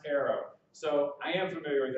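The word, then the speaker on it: eero: o w it's spelled e-o-r-o or e-a-r-o-e-r-o is pronounced Arrow so I am familiar with arrow arrow is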